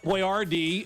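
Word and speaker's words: Boyardee: He is Chef Boyardd.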